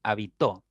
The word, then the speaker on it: habitó: Es decir, el acento es distintivo porque permite distinguir entre una y otra palabra. Hábito, habito, habitó. Por eso es distintivo el acento, ¿ya?